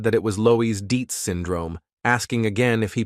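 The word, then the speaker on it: Loeys-Dietz: Taking a deep breath, our hero decided that his assistant was right and so said that it was Lois Deets syndrome, asking again if he pronounced the name correctly.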